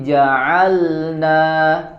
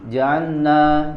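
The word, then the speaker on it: جعلنا: dalam membaca al-qur'an maka sebagian orang ada yang membacanya diidgamkan seperti teridgamkan ke huruf nun jaanna jaanna ya padahal di situ ada huruf lam sukun yang harus jelas sempurna ya karena huruf lam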